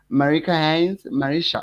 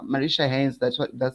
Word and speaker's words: Marisha Haynes: Thank you so much for being part of the conversation, Miss Marika Haynes. Marisha Haynes, Mhm. that's how to pronounce it.